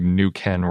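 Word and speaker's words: Neuquén: are in patagonia and i think i've been pronouncing nuken wrong it's spelled n-e-u-q-u-e-n with an accent over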